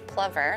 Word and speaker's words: plover: I think the biologists are saying the correct pronunciation is plover.